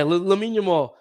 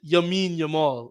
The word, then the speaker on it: Lamine Yamal: Everyone makes fun of him for saying Lamine Yamal's name wrong. He says Yamin Yamal.